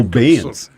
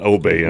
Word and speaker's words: abeyance: Abeyance. Hey, speaking of abeyance, from a galaxy far, far away. Abeyance, not obeyance.